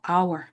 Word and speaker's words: hour: 자 our 모음 발음을 하죠. our 아 h는 발음이 안 나요.